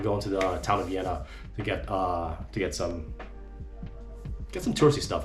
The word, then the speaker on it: Villena: It's pronounced Vienna with an emphasis on the Y sound, the second syllable, and it's not a V sound in Vienna, it's Vienna, it's more like a B, so noted.